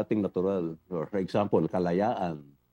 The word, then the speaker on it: Kalayaan: binigyan tayo ng tools na hindi nagbabagay don sa ating natural or for example kalayaan that's what four syllables.